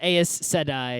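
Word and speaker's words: Aes Sedai: I know how say I'm pretty sure it's eyes today I don't know how to pronounce anything but it my brain is always says as sedi took my brain a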